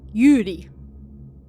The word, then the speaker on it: Yuri: This combination of characters isn't terribly uncommon, but they're usually read Yuri, with a short U sound, whereas our Yuri is pronounced with a longer U sound, like Yuri.